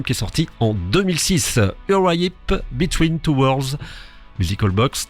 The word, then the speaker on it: Uriah Heep: Alors en anglais on prononce Uriah Heep.